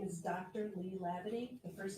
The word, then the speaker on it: Hlabaty: Please keep your voice up, and if you wish, please state your name and spell it. Certainly. My name is Dr. Lee Lavity.